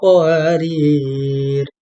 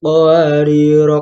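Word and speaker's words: قواريرا: Jika Anda membacanya dengan wasl tetapi terpaksa berhenti pada qawarir kedua, maka ra pertama dibaca pendek dan ra kedua dibaca dengan sukun.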